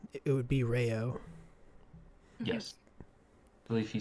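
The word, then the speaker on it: Raoden: the book The pronun if there are two vowels next to each other you pronounce them independently of each other uh when breeding specifically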